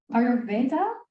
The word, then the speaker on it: Ayurveda: introduced and he's here to talk about the ayurveda is that how you pronounce it yes yeah perfect a new age